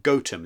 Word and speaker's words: Gotham: Or perhaps it would be better to call it the Wise Men of Gotham, or indeed the Wise Men of Gotham, as it is actually locally pronounced.